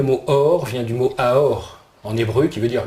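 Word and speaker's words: אור: En plus, ce mot, il se prononce autrement, il se prononce aour aussi, comme amour.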